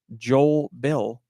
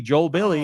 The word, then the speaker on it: Bille: The composer, who I've named before, is named Joel Bill, not Billy Joel. It's Joel Bill, but Bill is spelled Bille, so it could be Joel Billy.